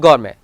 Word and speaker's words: gourmet: If a French word ends in ET, ballet, buffet and gourmet, here T is remain silent.